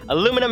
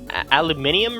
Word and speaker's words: aluminium: Aluminum is funny, and I think it was aluminium or something. Aluminium, I think, is how you say it in Britain, if I'm not mistaken. It is even more funny because it adds an extra syllable.